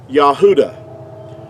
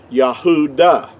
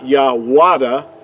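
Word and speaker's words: יהודה: the word uh judah in our english word would be uh what would be accurately would have been pronounced yahudah now most people won't argue with that fact that it's yahudah and it's not yahwada see with the w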